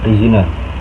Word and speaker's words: perizinan: Analisa bahasa selanjutnya yaitu adalah salah pengucapan, yaitu perizinan yang seharusnya adalah perizinan, menggunakan Z bukan J, yaitu dari perizinan jadi perizinan.